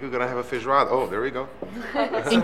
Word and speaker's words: feijoada: I think we're going to have a feijoada.